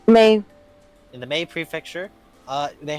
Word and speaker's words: Mie: Is that how you pronounce that, Mina? M-I-E? What was it? The M-I-E prefecture, Japan? Mei? May.